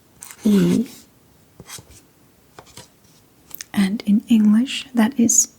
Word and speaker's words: I: And very confusingly, it is just spelled the same as when I want to say I. Yay. I I not confusing because this is English. Yeah. Okay. So it's different. Yeah. So E just E just means you.